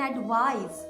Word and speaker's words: advise: एडवाइस में एस को Z pronounce किया जाता है और ये एक वर्ब है।